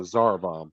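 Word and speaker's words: Tsar Bomba: Yeah, the Zarbomb. That's how you pronounce it.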